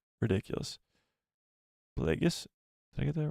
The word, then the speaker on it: Plagueis: Plagueis? Did I get that right? Yeah, there we go. Darth Plagueis. Every time I, like, spell it wrong, or I spell it right and